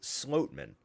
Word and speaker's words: Schlotmann: He came out and said it's pronounced Sloatman.